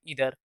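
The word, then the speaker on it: either: नीदर नॉर, ईदर और, यहाँ पे नाइदर नहीं पढ़िएगा, सही प्रोनाउंसिएशन नीदर होता है, अर्थात नीदर नॉर, और आइदर नहीं बल्कि ईदर, ईदर और।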